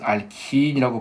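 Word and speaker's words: alkene: 알켄이라고 일반식. 이걸 이제 교수님들은 알킨이라고 발음하십니다. 근데 저는 그냥 알켄이라고 할게요.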